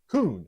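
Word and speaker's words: כון: That word steadfast, it's a Hebrew word that is pronounced kun, and it means to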